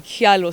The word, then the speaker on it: Kyallo: I asked him one day and he said, me, yangu ni Kyallo. So who am I to change his name? Yeah. But it doesn't matter how you pronounce it. But atuntaitika, ebu nite Kyallo.